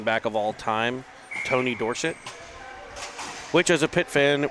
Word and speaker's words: Dorsett: of all time Tony Dorsett which as a pit fan we utilize the Dorset pronunciation as he was when he attended the University of Pittsburgh out of Hopewell High